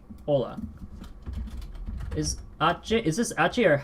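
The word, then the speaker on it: Hola: example given is Ola now notice how I said Ola and not Pola I think everyone who knows who's heard of this word has heard it without the H Ola is uh is this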